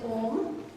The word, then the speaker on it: Om: Most of us know what is Om. It is 3 syllable, A, U and Om.